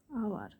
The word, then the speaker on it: hour: এরপর হলো আরেকটা উদাহরণ হলো আওয়ার। HOUR, আওয়ার।